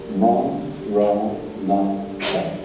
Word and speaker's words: Maranatha: If you choose that word, say it as 4 syllables. Ma, Ra, Na, Ra.